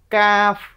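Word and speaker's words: ق: চান পাচ নাম্বার মাখ কোথা থেকে করতে হবে কাফ কাফ কাফ এই জিহবার গোড়া থেকে একটু সামনে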